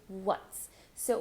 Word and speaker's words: what's: pronunciation you're going to start with what so for what's round your lips then you're going to go straight to a very neutral vowel sound the schah w w do